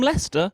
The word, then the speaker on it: Leicester: him the Jester from Leicester. And I'm like, "No, it isn't. Jester rhymes with Lester.